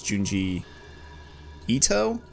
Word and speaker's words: Junji Ito: Itoi. Yeah. No, that's not right. I misspelled. I definitely said it wrong, but I know it's Junji Ito? Yeah, Junji Ito. Okay. That sounds right. Like, that sounds correct.